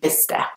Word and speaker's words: Bicester: There is a C and an S there, but only the S sound is pronounced, so it's Bicester.